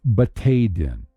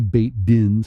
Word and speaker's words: Batei Din: But plural, it's Batei Din. Don't say Beit Dins or Beit's Din, say Batei Din.